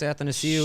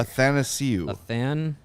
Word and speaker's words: Athanasiou: Athanasiou. It's like Athanasiou. Nathan without the N. If I think about it, I can say it. And Athanasiou. then ASIOU.